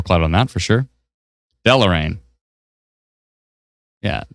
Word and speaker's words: Deloraine: See, Patricia, how you phonetically spelled it out was Del and then or, O-A-R, and then dash rain. So Del or rain. Whereas I think maybe the Delo, like D-E-L-O dash rain, would make sense.